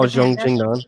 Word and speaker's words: Zhang Jingnan: No, how do you pronounce her name? Oh, Zhang Jingnan, the Panda.